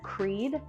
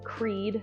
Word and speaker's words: Creede: And then Creede and Del Norte are farther out from us, but it's good to know it's Creede, not Creede, and Del Norte, not Del Norte.